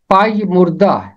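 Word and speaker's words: پژمردہ: ہیں، اس کے علاوہ اور اس کا کوئی تلفظ نہیں ہے، اسے پڑھا جائے گا پائی مردہ۔ اس کا مطلب ہے مرجھایا ہوا، کملایا ہوا،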